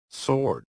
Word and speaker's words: sword: And finally, the mysterious silent W. Right. Right. Right. Wrist wrist wrist sword sword. Sword. Two. Two. Two. Wrap. Wrap. Wrap. Wrinkle. Wrinkle. Wrinkle. Russell. Russell. Russell. W just vanishes like magic.